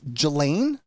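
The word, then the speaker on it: Ghislaine: God I you know the way that it's spelled I don't I've heard it's Gelain Maxwell and so please forgive me. You know it's spelled very odd.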